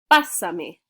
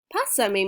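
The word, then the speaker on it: pásame: it says look passami i know it looks like hussein ignore the urge to say it's basami pasa me means pass it to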